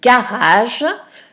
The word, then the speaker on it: garage: Le premier mot, c'est le mot garage. Le premier G fait le son G puisqu'il est suivi d'un A. Et le deuxième fait le son J puisqu'il est suivi d'un E.